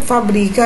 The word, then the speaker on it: fabrica: muda de lugar aí então é a fábrica é uma proparoxítona e fabrica é uma paroxítona continuando aqui com a